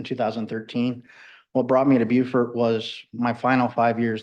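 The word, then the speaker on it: Beaufort: Um, and I got stationed in Bufort, South Carolina. And I have to say it like that because I spent six and a half years in Hawaii on a guided missile destroyer.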